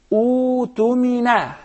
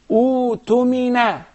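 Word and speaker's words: اؤتمن: In this case, Halim, I gotta say, U-tumina. U-tumina. You don't pronounce the Hamza.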